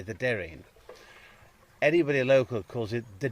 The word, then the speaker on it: Derreen: So it's spelt, you see on a map, it's the Derreen, D-E-R-R-E-E-N. So we'd say the Derreen.